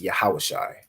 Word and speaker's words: yahawashi: so yahaw and I that word you pronounce it is yahawashi okay excellent go ahead